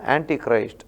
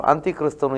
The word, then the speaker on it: ಆಂಟಿ ಕ್ರೈಸ್ಟ್: ಕಾಲ ಆ ರೀತಿ ಅಲ್ಲ ಆಂಟಿ ಕ್ರೈಸ್ಟ್ ಅನ್ನ ಕೆಲವರು ತಪ್ಪಾಗಿ ಉಚ್ಚಾರ ಮಾಡಿಕೊಂಡು ಅಂತ್ಯ ಕ್ರಿಸ್ತನು ಎಂಬುದಾಗಿ ಅಂದ್ರೆ ಆಂಟಿ ಕ್ರೈಸ್ಟ್ ಆಂಟಿ ಅಂತ ಹೇಳಿದ್ರೆ ವಿರೋಧಿ ಆಂಟಿ ಕ್ರೈಸ್ಟ್ ಕ್ರಿಸ್ತ ವಿರೋಧಿ ಎಂಬಂತ ಅಥವಾ ಸೈತಾನಿಗೆ ಇರುವಂತಹ